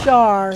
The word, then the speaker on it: Char: Char, sign of old age. I love you. I was on at that time. Because that's how you pronounce it, is with an SH.